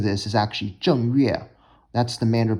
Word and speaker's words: 正月: The Mandarin pronunciation is 正月.